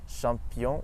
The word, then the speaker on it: champion: In English, the CH makes a ch sound, but in French it's always sh, like in the word bush or shingle. And in French we have champion et tache.